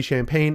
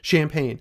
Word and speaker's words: Champagne: Yes, it is my real name, Champagne. There's no G in it. It's spelled exactly like the drink without the G.